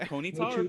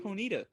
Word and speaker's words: Ponyta: it machop is it mate like is it ponyta ponita right it has to be my champ right